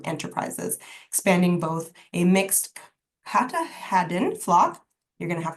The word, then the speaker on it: Katahdin: How do I pronounce that? Katahdin? Katahdin, yes.